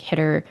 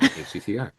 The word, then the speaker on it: httr: This glimpse in the background, if you do web scraping or use like Hitter to call APIs, this will help you understand more what you are doing when you're doing that.